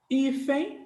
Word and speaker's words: hífen: Então, por exemplo, a palavra hífen, se você for pegar a palavra hífen, vamos ver, ó.